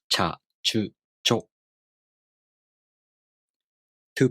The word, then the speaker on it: ちゃ: For example, cha, chu, cho. These are pronounced with the ch sound plus a, u, o.